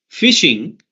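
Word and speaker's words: phishing: much more serious attacks fishing is like you know the first point of the attack right it sounds like uh fishing right although it is spelled differently it's also sounds like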